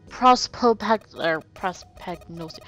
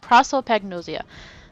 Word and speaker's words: prosopagnosia: Prospagnosia.